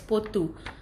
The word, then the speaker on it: pottu: So mereka pronounce this as potu.